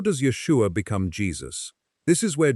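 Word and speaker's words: ישוע: In Hebrew, it is pronounced Yeshua.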